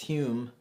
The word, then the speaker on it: Hume: So today we have this book is called The Student's Hume, or I'm gonna assume it may be pronounced Hume. It's Hume, and I'll put it on the screen.